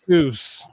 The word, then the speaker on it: Seuss: Seuss. Oh, it's Dr. Seuss. Get it right. Seuss? Don't tell me. It is Dr. Seuss. It's actually supposed to be pronounced like the word voice, not like Seuss.